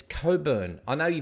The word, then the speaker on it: Cockburn: gonna hit buy um the Aussie 1970 says Coburn I know you pronounce it cockburn but it's Coburn but it is funny and while he just